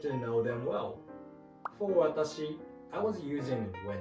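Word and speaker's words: わたし: Well, atashi is not wrong, but watashi is the correct word.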